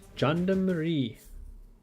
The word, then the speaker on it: gendarmerie: It's pronounced gendarmerie.